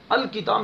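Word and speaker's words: الكتاب: اس طرح الکتاب میں دیکھیے لام کو پڑھا جا رہا ہے. اس کی وجہ کیا ہے کہ کتاب میں کاف پہلا ہے، پہلا حرف ہے کاف، اور کاف جو ہے یہ کاف کا تعلق حروف قمریہ سے ہے، اور حروف قمریہ میں سے اگر کوئی حرف شروع میں آتا ہے تو اس سے پہلے جو الف لام ہوگا تو لام کا تلفظ کریں گے، لام کو اس یعنی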